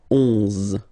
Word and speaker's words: onze: then 11, 11, okay, so O plus N give you the sound on, onze, onze, okay, final E doesn't exist phonetically, onze, okay, douze, douze, O, U,